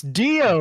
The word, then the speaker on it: Dio: how does this pronounce is this Dow or is it Dio it's Dio off